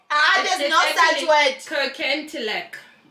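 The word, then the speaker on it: Kirkintilloch: Kirkentilock. That's how it's pronounced.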